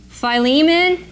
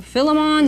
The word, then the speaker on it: Philemon: 1 Corinthians, 2 Corinthians, Galatians, nope, Ephesians we're putting over here, Philippians, Philemon, or Philemon, there's different ways of pronouncing it, and 1 Thessalonians.